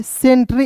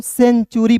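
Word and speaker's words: century: उसके बाद देखिए यहां पे सी ई एन टी यू आर वाई सेंट्री यहां पे देखिए सेंट्री नहीं यहां पे टी का उच्चारण ट के रूप में नहीं करना है।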